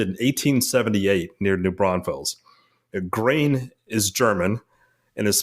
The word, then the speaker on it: Gruene: And Green Hall is the oldest dance hall in Texas, and it opened in 1878 near New Braunfels. Grain is German and is spelled Gruene, for those